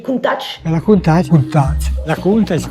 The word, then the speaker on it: Countach: D'ailleurs à ce sujet-là, il y a aussi beaucoup de gens qui disent qu'on dit Countach. Mais ça voudrait dire que Marcello Gandini le prononce lui-même très mal quand il dit Countach.